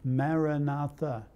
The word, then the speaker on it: maranatha: of one word a beautiful word maranatha there's four syllables Maranatha come Lord Jesus